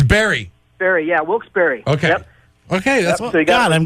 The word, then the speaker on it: Wilkes-Barre: how to pronounce that why do they spell it bar it's named after two gentlemen John Wilkes and Isaac Barry John Wilkes the guy